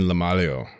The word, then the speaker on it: LaMaglio: It's LaMaglio.